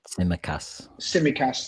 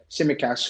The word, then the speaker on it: Tsimikas: Tsimikas, yeah. Tsimikas, who you know could turn out to be a very shrewd signing.